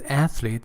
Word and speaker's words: athletes: favorite your favorite athletes the pronunciation actually is athletes the first syllable is a stressed closes in closes in